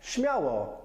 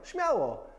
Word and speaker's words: Śmiało: Number 5, śmiało.